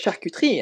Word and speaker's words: charcuterie: for example sh sh charcuterie charcuterie charcuterie It's charcuterie and so like I don't want to seem like I'm trying to say it like I'm telling people how to say probably.